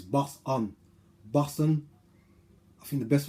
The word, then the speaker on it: Boson: But like I said to my son, there's no T in it. So it's Boson.